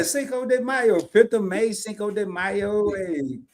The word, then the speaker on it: Cinco de Mayo: Cinco de Maya. Am I saying it right? Yeah. Cinco de Mayo.